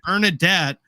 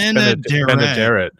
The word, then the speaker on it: Benaderet: You want to say Bernadette, but it's spelled Benaderet. I think it's Benaderet. Benaderet or Benaderet.